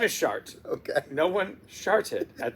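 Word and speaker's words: Chartres: something about that shards some people would call it chartrez but in French it's shart now for the immature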